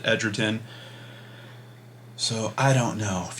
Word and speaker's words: Edgerton: you video where there's a robot voice saying Joel Ed Edgerton and then in the comments it's saying nope that's wrong I saw an interview he pronounces it ederon so I don't know